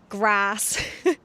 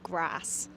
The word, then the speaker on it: grass: So we say bath, we say grass. But if you were posh, you would say bath and grass. Grass or grass. Bath or bath.